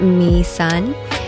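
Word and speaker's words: Mỹ Sơn: right now our tour guide was super knowledgeable we learned that my son is actually pronounced me sun me means beautiful and Sun means mountain in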